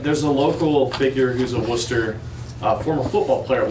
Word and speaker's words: Worcester: the name and so i noticed it's worcester right worcester yeah yeah not so not rooster it's like i know